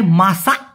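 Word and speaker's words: masak: এই দুইটার ক্ষেত্রে মালয়েশিয়ান ভাষায় মাসা বলা হয়ে থাকে। কি বলে? মাসা। এই ক টাকে মাসাক। কিউ এর মত না উচ্চারণ করে ডাইরেক্ট ক এরকম না বলে ওরা এই ক টাকে অনেস্বরের মত উচ্চারণ করে।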